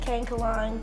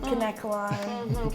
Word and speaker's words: Kanekalon: there's no right or wrong way, I think. Kankalon, Kanekalon. Kankaloin.